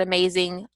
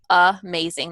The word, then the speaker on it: amazing: Like in the word amazing, amazing, the first part, the A is not a true A production like or A, but it's it's the schwa sound.